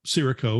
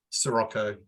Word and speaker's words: Sirocco: it's better than uh siricho or Sirocco how do you guys pronounce it Sirocco yeah okay okay because you know